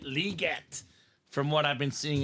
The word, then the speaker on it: Legette: Ronnie says a Julius Peppers and Xavier it's liette the way it's properly pronounced Stephen not Legette liette from what I've been seeing in the NFL